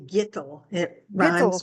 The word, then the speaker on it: Gitel: half mark it's actually G it r with yeah rhymes with little G there we go